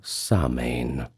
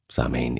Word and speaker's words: Samhain: Now finally, the year would come full circle to Samhain, which in Irish is pronounced Samhain, but we generally know it as Samhain, at least that's how we pronounce it in English vernacular, so I'll try not